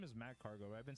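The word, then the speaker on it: Magcargo: His name is Mag Cargo. I've been saying his name wrong.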